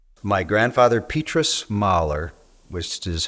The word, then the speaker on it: Mullye: my grandfather petus merer which is how mui is pronounced in Flemish um was born in 1885